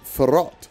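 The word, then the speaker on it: Faroth: someone made clear that it's pronounced ferrat an old Scottish word for Dragon sorry about that I'll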